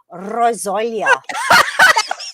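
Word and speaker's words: rosolje: and you're gonna like the word when I pronounce it, rozolia. I knew you'd like that. I knew you'd like that. You like that rolling on. Rozolia. Rosoya.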